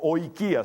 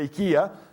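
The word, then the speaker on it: οἰκία: Algunos la leen como oikia, se pronuncia ikia.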